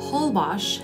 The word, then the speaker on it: Holbox: Holbox, as it's pronounced, is one of the most geographically unique places in Mexico.